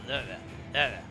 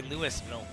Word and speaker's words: Louisville: Is it they like slur it all together? They go Louisville. Whereas someone from the Northeast. Louisville. Is that what it is?